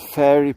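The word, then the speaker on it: faer: I can't remember what they said now on fairy pro.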